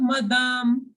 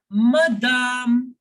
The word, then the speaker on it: madame: Bonjour, madame. Bonjour, madame. Okay, here I am not pronouncing madam as English. It is not madam.